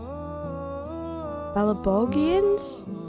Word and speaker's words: Belobogians: Belobogians? I keep wanting to say it with a soft G.